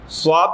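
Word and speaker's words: ص: দেখেন আমরা সাধারণত ছোটবেলায় আমরা শিখেছি কি সয়াদ এই মুখটা গোল করে ফেলতেছি সয়াদ না এভাবে কিন্তু উচ্চারণ শিখেছি কিন্তু সদ শুধু মোটা হবে মুখ গোল হবে না সদ উচ্চারণ করার জন্য মুখ গোল করতে পারবেন না সদ সদ সদ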